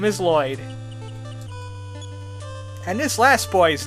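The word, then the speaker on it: Loid: This other boy, his name is Lloyd, but it's not spelled like everybody else spells it. It's L-O-I-D. Not 2 L's and there's no Y's. His name is Lloyd.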